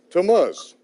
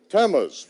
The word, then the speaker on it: Tammuz: Can anyone pronounce that for me? Tammuz. Tammuz.